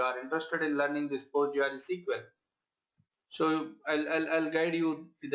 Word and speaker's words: PostgreSQL: You can pronounce it PostgreSQL like that, right?